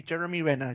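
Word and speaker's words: Renner: r there too many RS in there Jeremy Jeremy Rena Jeremy Rena jery Rena Jeremy Rena I said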